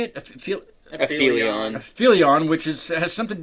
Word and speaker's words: Aphelion: Aphelion.